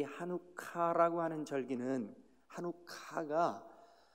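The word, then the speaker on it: חנוכה: 때 그것을 봉 헌 히브리 말로 는 하누카 이렇게 발음합니다 1호 카 한번 해보실래요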